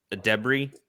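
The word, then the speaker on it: Edebiri: Adebri. That's how you pronounce it.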